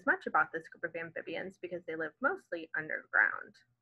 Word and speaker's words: amphibian: Amphibian. Let's see. That A sound. Fib, that short I sound. En. So that I is making a long E sound, and the A is making a short A sound. So if you've underlined your vowels, you should have something that looks like this. We've got 4 syllables in the word amphibian.